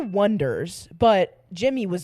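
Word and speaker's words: Oneders: just the anders but the way they spell it everyone thinks it's oners but that's not how they want you to say it yeah so it is the Wonders but Jimmy was like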